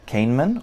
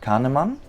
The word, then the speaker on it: Kahneman: It's written by Daniel uh Kanman or Canaman depends on which country you're from how you would pronounce it and it gives a lot of insights into psychology.